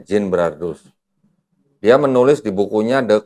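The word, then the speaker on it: Genebrardus: Kristen namanya Jin brardus g e n e b r a r d u s Gin brardus tulisannya bacanya Jin brardus dia menulis di bukunya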